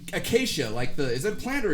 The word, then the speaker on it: Acacia: It's acacia, is it a plant or a tree? It's a tree. It's a tree. I knew it was a shrubbery of some sort. That's how you pronounce it, is acacia, right?